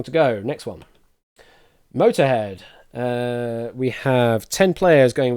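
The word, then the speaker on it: Motörhead: Yes, Motorhead should actually have an umlaut over the second O. So it should be M-O-T, O umlaut, R, head. Probably doesn't pronounce it any differently. It's still pronounced Motorhead, I guess.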